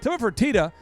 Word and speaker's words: Tilman Fertitta: are many names, there's many ways you could mispronounce Tilman Fertitta's name. Well, there's several. You could say Fertitta. Fertitta. Fertitta. Fertitta. Fertitta. But that wouldn't be his name.